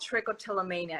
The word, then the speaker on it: trichotillomania: Okay, so I have a condition called trichotillomania, and I'm gonna write it on the comments so that people can trichotillomania.